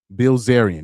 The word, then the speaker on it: Bilzerian: I don't know how to pronounce his name. Dan Braz Bilzerian.